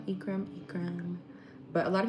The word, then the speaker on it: Ekram: My name is Ekram, if you guys can't pronounce it. Ekram, Ekram, Ekram.